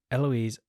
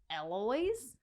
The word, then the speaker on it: Eloise: kid you not Eloise Eloise Asylum the it really doesn't look like it should be pronounced Eloise to be honest with